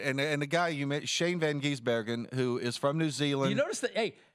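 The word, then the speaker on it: Shane van Gisbergen: press conference in Nashville so I got the pronunciation right Shane Van giesbergen that's pretty good he's Australian Next News he's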